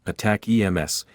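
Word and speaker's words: ATACMS: Army tactical missile system addicts pronounced attack EMS to Ukraine I hope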